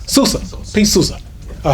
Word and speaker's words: Souza: His name is spelled Souza. Sousa.